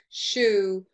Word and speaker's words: shoe: Shoe rhymes with zoo and keys rhyme with peas.